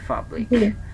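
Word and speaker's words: public: তারপরে একইভাবে আপনি দেখেন, আমরা এটাকে বলতাম কি, পাবলিক, পাবলিক বলতাম না, এখন হয়ে যাচ্ছে কি, ফাবলিক, ফাবলিক, ফাবলিক।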